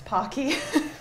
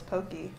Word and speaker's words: Pocky: molina says i'm japanese americans say it wrong it's pokey oh that is that's